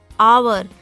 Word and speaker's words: hour: Dash hour. So we are not pronouncing or taking out the sound of H. H is silent here, children.